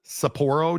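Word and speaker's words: Sapporo: Uh, Saporro, Saporro, Japan, I believe is the proper pronunciation, has been hit with the most 13 deaths and over 100 other injuries.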